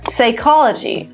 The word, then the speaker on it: psychology: P is also not pronounced when it comes as a first letter in words followed by consonant, like psycho or psychology or pneumonia.